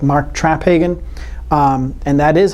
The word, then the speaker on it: Traphagen: working with some very interesting people like mark traphagen and that is how you say his name